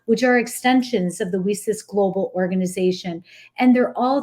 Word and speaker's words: WiCyS: We spell it WiCyS, and we pronounce it WiCyS like we sisters because we're a global cyber sisterhood.